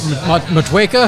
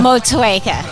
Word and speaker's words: Motueka: It's got Mosaic, Riwaka, and Matueka hops. I got the nod of approval. Did I say it right? Matueka? Motueka. Yeah, all right.